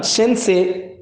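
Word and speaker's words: せんせい: मित्रों इसमें ध्यान देंगे, जापानीज में से SENSEI लिखते हैं, सेंसे ई लिखते हैं, बट इससे उच्चारण सेंसे किया जाता है।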